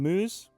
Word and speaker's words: Mooz: moose from Beast Coast has told me to pronounce his name moose but you would normally say it MO is